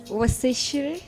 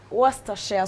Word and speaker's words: Worcestershire: Hiyo hata ni pronounce tusikie. Unajua kuna countdown? Wasishire sauce.